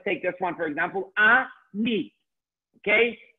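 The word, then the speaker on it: אני: Ani. Okay? Aleph with a patach, a nun with a chirik, and then the yud. Ani.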